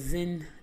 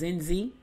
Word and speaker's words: Zenzi: Her name was Zen. I keep saying it wrong. Her name was Zenzi.